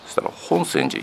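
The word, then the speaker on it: 品川寺: て読んでたら本線寺品川寺って書いて本線寺って読むらしいですねで今日は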